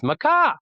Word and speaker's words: MaKa: There's another way to pronounce it." I mean, there's MaKa games. Like, I Mhm. guess I kinda make a games, but the 4th Yeah. pronunciation is Maca, like maybe a bird or something.